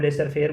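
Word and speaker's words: laissez-faire: जिसको हम लेसर फेयर बोलते हैं। एल A double S ए Z spelling ये है। एक फ्रेंच वर्ड है ये।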